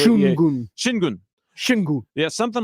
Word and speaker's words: Şengün: Yeah, apparently one of those accent marks at the end means that syllable is a little shorter, but goon is how you say it, but you got to say it quickly.